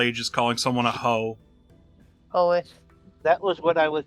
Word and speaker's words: Hoeth: Is it pronounced Hoeth? Hoeth? The Hoeth. elfin god of Hoeth. Okay, it's Oh, Hoeth.